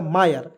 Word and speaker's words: mire: देखिए MIRE, देखिए एम से तो माँ लिखेंगे, और देखिए जब भी कोई भी वर्ड्स के अंतिम में IRE आएगा, उसका उच्चारण जो है आयर के रूप में करेंगे, हो जाएगा दोस्तों आयर, आयर होगा।